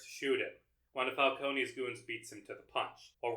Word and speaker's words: Falcone: testifying against mob boss Carmine Falconee or Falcone they pronounce it in this film for some reason.